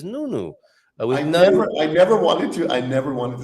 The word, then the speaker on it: Nuno: James how to pronounce nuno's name like a Portuguese it is nunno I never I never